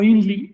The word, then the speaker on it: INRI: Claro, que lo que no sabía quien hizo eso, o a lo mejor sí, es que INRI, pronunciado INLI en maya, significa yo mismo.